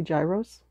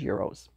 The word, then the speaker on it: gyros: y r oos I always used to say Gyros but then someone told me the correct Greek pronunciation is Euros okay so since then we've said Euros yeah